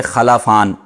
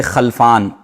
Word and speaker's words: خلفان: انہوں نے پوچھے ہیں، خلفان نام رکھنا کیسا ہے؟ ایک ہے خلفان لام کے زبر کے ساتھ، اور ایک ہے خلفان لام کے سکون کے ساتھ۔ تو خلفان لام کے